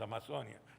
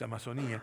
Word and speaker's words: Amazonía: de toda la amazonía me resulta difícil pronunciar así nosotros decimos amazonia pero acá es amazonía la patagonia y los